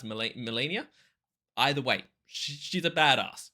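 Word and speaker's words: Malenia: I think it's pronounced Melania.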